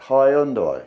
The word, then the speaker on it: Hyundai: Hyundai.